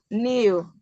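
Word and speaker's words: knew: K is silent. So you don't pronounce that new. You won't have to pronounce as new. It is new. So K is silent.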